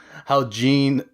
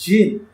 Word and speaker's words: Jin: I just love how Gene is able to just like Jin. pick apart Mugen. no, it's pronounced He's not Jin. French. Get out of here. Wait, what? It's Jin.